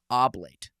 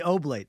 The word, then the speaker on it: oblate: have six kids and he is a Benedicting Oblate. Did I pronounce that last word correctly? Yes, you did. Okay. I just making sure people say oblate.